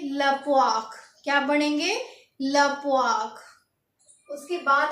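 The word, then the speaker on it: la poire: तो इसको पढ़ेंगे लपवाक।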